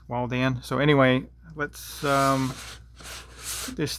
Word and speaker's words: Waldan: to pronounce it w-a-l-d-a-n i want to say walden but it's wall dan so anyway let's um